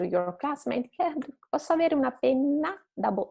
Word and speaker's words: penna: Pena, penna, pena, one N, penna, double N. So just longer and a bit stronger.